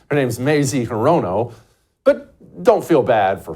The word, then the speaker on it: Hirono: Yeah, Horino. Her name's Mazie Hirono, but don't feel bad for her getting her name mispronounced.